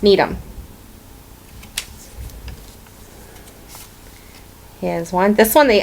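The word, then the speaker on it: Needham: when you were little you would say need him and that's need him here's one this one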